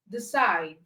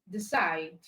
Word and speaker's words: decide: Whereas in rule number 6, two-syllable words of verbs and prepositions, the second syllable is usually stressed.